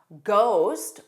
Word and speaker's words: ghost: Some additional words with a silent H: chorus, co, chorus, echo, school, ghost, which has that GH spelling but sounds quite different, and it's at the beginning.